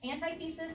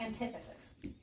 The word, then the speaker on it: antithesis: adding is the and you can pronounce it two ways antithesis or antithesis the antithesis is not